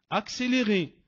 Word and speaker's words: accéléré: Mais, attention, 2 C qui se succèdent, ça peut être aussi un X. Accéléré, accélération, accent.